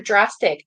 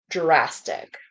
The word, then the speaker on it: drastic: next let's go to drastic D turns into J drastic drastic let's do the TR